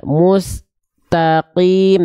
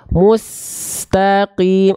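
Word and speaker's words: مستقيم: Oke di bagian mustanya sinnya jangan terputus Bunda mustaqim tapi mustaqim es-nya terus jalan jangan sampai mu Mus mu mustaqim jangan terhenti lagi bunda ihdinasiratal mustaqim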